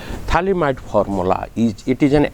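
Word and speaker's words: phthalimide: g-a-b-r-i-e-n gabriel thalamite reaction mark the spelling thalimite it is ph ph here p remains silent p h t h l i m i d thalimide formula is it is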